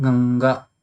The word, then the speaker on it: Ganga: So when you will pronounce, then you will pronounce this also like Ganga.